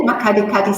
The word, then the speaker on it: Makgadikgadi: Okay, now this one I have trouble pronouncing. MAKGADIKGADI? Very good. MAKGADIKGADI salt pans, which is part of the Greater Kalahari.